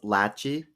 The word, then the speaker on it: Lachey: miss you it's pronounced Lachey it's like pronounced hey actually yeah he's Jewish